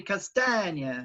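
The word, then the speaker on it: Castagne: Tommy Castagna, as William taught me how to pronounce, and Justin will do something.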